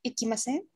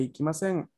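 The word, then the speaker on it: 行きません: La negación es umi e ikimasen. Okay, como que la última parte de sen decae un poquito.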